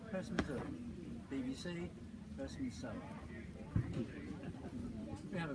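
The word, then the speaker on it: Herstmonceux: The village name therefore became Hurst de Monceux, pronounced now HearstMonceux, BBC HearstMonceux.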